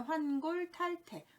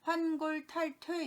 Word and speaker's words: 환골탈태: 환골탈태, 환골탈태. 그런데 왠지 탈태라는 발음이 탈퇴가 돼서 환골탈퇴 이렇게 하는데요.